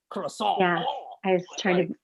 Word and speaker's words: croissant: It's pronounced croissant over here. It's fine. You don't have to be, you guys and your pronunciations. It's just, I mean, I know in the books it's like croissant.